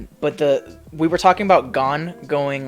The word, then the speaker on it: Gon: I think it's pronounced Gon.